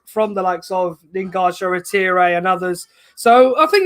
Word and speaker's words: Shoretire: Yeah, and I'm impressed, but we have to pronounce his name correctly because Ollie told us to, Shoretire, but Robbie has his way of saying it, what we all do.